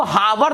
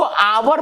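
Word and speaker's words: hour: इसको हावर नहीं पढ़ते हैं, इसको आवर पढ़ते हैं। आवर माने होता है घंटा, है ना। अब आपको बता देना चाहता हूं कि ये एच जो है, इसका उच्चारण यहां साइलेंट है।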